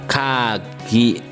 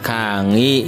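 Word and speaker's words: 鍵: Kemudian berikutnya ada kata kagi. Boleh diucapkan kangi ya.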